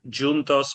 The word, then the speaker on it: juntos: In Portuguese, it's spelled exactly the same. It's pronounced juntos, but it means the same.